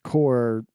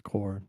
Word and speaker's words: Corps: Yeah, it's core with CORPS as in body, but most people pronounce it as core.